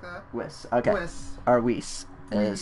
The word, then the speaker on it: Whis: Whis or something like that. Whis, okay. Whis. Is how a lot of people pronounce it and how they pronounce it in English dub.